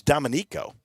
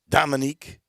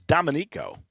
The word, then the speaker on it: Domenico: I was told by a member of the Canali family, it's Domenico, not Dominique It's Domenico. And what a story he's got.